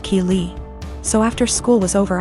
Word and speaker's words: Keeley: was calling my daughter Kelly my daughter's name is Keeley pronounced Keeley so after school was